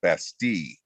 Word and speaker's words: Bastille: to that although my daughter tells me it's pronounced basti but then i'm german